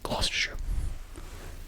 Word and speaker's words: Gloucestershire: But it's pronounced Gloucestershire.